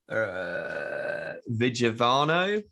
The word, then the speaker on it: Vigevano: You'll have to excuse my pronunciation, but the event was al fresco in Vigevano, Yes.